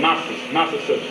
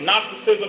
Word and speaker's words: Gnosticism: G-N-O-S-I-S, I believe that's how it's spelled, Gnosticism. And that is the knowledge or the study of spiritual sciences. And when you hear the word Gnosticism, you think of nostril.